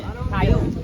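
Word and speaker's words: Kiun: Another word for Remphan is Kiyun. Oh, Kayun. Yeah. Oh, I know. Kayun. Yeah. Kayun. I spell it K-I-U-N. Kayun.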